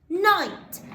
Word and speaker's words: knight: trigraph i and then on the end night as in in the olden days a knight